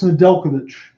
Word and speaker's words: Nedeljkovic: So Alex Nedeljkovic. Thank you very much. That J keeps throwing me off. The silent J.